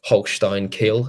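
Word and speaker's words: Holstein Kiel: German cup and then Holstein kill I think is how you say the name who I don't think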